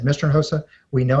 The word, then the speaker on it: Hinojosa: Hinojosa, right? Oh my gosh. It's not quite in a hose, but it's Hinojosa. And so the H is silent, the J is like an H.